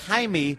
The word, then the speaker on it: Jaime: It's Jamie in Spanish. Yeah. It's pronounced Jaime because of the J.